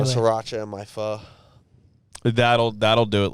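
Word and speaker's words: phở: sriracha in my pho. That'll do it. Like if I make my pho too spicy. Little jalapeno slabs in there. Pho for those who don't Pho.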